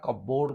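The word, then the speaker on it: cupboard: under ये आसीबो next which letter in the words कपबोर्ड इज not pronounced एवं यार सठिक उत्तर होजी पी आमे कप नगेना कपबोर्ड कहू जामे तेन पी टा हमर एटे कोन होजी not pronounced next read the following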